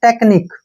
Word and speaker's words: technique: हम यहाँ पे कै पढ़ेंगे, ये बनता है टेक्निक, क्या पढ़ेंगे इसके, टेक्निक, ठीक है ना, टेक्निक।